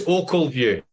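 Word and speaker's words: Ochilview: I think you'll find it's Ockleview.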